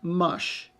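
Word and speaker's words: Musch: So, so Shannon Roberts Mush, M-U-S-H is how it's pronounced, but it's spelled M-U-S-C-H.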